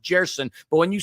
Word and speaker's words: Gerson: In Portuguese, Gerson's pronounced Jerson, but when you said Gerson, I thought of Gellson's.